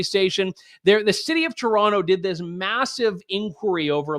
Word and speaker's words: Toronto: the Amer I did I did the Toronto I you're supposed to say toron I I I never pronounced the second te I apologize to the